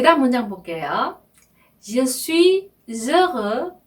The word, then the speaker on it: heureux: 자, heureux 또 나왔어요. heureux. 그죠? 나는 행복합니다. 이 말이죠. 자, heureux에 이 아슈가 또 나왔어요. 여기도 모음 아슈이기 때문에 je suis heureux 이렇게 발음하시면 돼요.